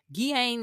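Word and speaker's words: Ghislaine: Guain Maxwell, that's how you pronounce her name.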